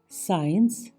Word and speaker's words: science: इत्र, SCIENCE, साइंस, विज्ञान।